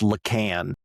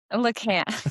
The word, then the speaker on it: Lacan: I don't even know if I'm saying his name right, but I feel like the whole thing of well, It's pronounced Lacan. Lacan, Lacan.